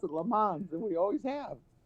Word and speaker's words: Le Mans: We pronounce it Le Mans, and we always have.